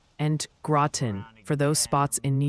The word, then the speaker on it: Groton: The Pronunciation Council has decreed it's Interlaken and Groton for those spots in New York.